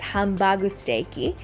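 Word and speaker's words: ハンバーグステーキ: got Hamburg steak Hamburg steak which is usually pronounced as hambu steaky is a Japanese take on the Salisbury steak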